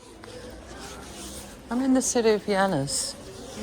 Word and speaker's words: Llanes: It's just before the one that I'm staying in, which is, I think it's pronounced Llanes, which sounds like lanes.